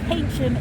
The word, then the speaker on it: Keynsham: So you've got Patchway, Keynsham, where the 2 custody suites are. Okay. Where's that one? Keynsham. Yeah. So Keynsham is probably about 6 miles that way. Keynsham. Keynsham. How do you spell that?